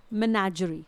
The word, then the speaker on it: menagerie: तो जंगली जानवरों को जहाँ पर रखा जाता है उस स्थान को हम बोलते हैं मेनाजरी। स्पेलिंग है MENAGERIE, इट इज़ मेनाजरी।